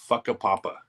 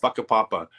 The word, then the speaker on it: Whakapapa: real place it's called whakapapa um it's spelled completely different but it's a mayori word I think and on the Wikipedia page it actually says it's pronounced a papa I want to go